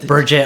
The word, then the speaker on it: Burgette: Burgette. That's how you pronounce it. Burgett. Burgette. Okay. So, the G is soft. It sounds like a J.